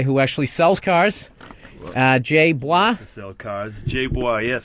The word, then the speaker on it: Bois: Jay Bois. Sell cars. Jay Bois, yes. Bois, how do you spell that? I was guessing B-W-A. It's B-O-I-S. It's French-Canadian.